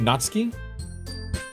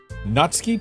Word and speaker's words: Natsuki: pronunciation of natsuki is natski okay so the U was like a silent thing natski just like uh how you pronounce Tokyo is Tokyo natski Tokyo okay okay cool